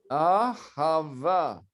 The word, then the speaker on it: Ahava: le nom hébreu, c'est comment prononcer? Ahava.